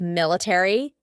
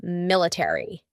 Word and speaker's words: military: a r y military in British English they often cut out the a so instead of military it would be military military that a is